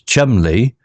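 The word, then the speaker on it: Cholmondeley: fresh bread baking the incer whose surname was Chumley pronounced Chum Le offered them a room sir Worster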